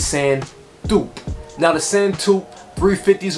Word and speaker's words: Sand Taupe: so the word is french it derives from french so it's called the same dupe that's what's the name of this shoe so i found out today because i want to make sure i'm saying it right because yeezy has these crazy names and i can never say it right but guys you know i got you covered it's sand dupe now the send to